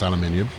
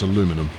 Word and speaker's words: aluminium: got the aluminum lightweight I know it's supposed to be pronounced aluminium but it's an American coach and therefore it's aluminum right oh you know